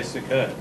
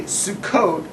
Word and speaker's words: Sukkot: mispronounced the word because the only people who can say sukkot are people who are smart or you know israeli but since you're not